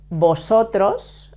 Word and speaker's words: vosotros: form the feminine and remember to pronounce the v in Spanish we pronounce it like a b but in Latin